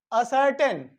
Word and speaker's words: ascertain: चलिए next, असर्टेन। असर्टेन means होता है, देखिए ये क्या है ना, साइलेंट है।